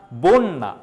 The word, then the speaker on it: বন্যা: ও এর মত হবে দেখো এই জায়গায় আমরা দেখতে পাচ্ছি বন্যা বন্যা ওকার হয়ে যাবে মানে স্বরে অরটা ওকার